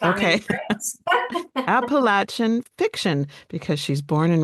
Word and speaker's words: Appalachian: Appalachian? That's correct. Okay. Appalachian fiction, because she's born and raised in that part of the country.